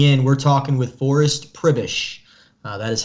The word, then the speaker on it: Przybysz: those just tuning in we're talking with forrest pribish that is how you pronounce his last name if you did not